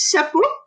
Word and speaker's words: chapeau: And the hat is chapeau. Chapeau. So we've talked about that before, how sometimes French is a little, it's a bit hard to know how to pronounce words because the E-A-U is pronounced O.